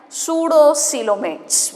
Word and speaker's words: pseudocoelomates: P is silent, pseudocoelomates we call them as.